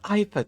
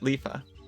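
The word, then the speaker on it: Iifa: The Ifa tree. Let's go. You pronounced it Lifa. I pronounced it what Mommy and Daddy called it.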